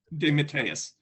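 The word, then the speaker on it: DeMatteis: was a i'm sorry he now he now pronounces his name demeteus is that true yeah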